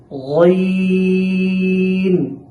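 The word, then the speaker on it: غين: পড়েছি এখন আমরা টাকে মোটা করে উচ্চারণ করতে হবে তবে দুই ঠোঁটকে কোনভাবেই গোল করা যাবে না গাইন আবার গাইন এমনও যেন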